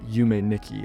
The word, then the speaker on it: Yume Nikki: This name makes a lot more sense in Japanese, where tu is pronounced ni, so it would be pronounced Yume Nikki as a sort of pun.